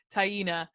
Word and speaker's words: Taina: say her name again tonight i think it's tyina hyena yeah you're right you're here taina he's so he admitted that he cheated on